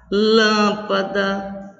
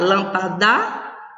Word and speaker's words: lâmpada: Nas palavras lâmpada, árvore, ônibus, música, a sílaba tônica é lâmpada. Eu não vou dizer, não pode ser o pá, eu não vou dizer lampada. Não pode ser o da. Eu não posso pronunciar lampadá? Não posso.